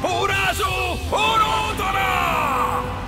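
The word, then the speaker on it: プルス・ウルトラ: E ricorda- ricordate, bimbi, quando dite plus ultra, dovete pronunciarlo alla giapponese in questo modo. Urasu Urotora!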